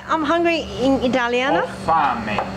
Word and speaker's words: Ho fame: Ho fame. Ho fame.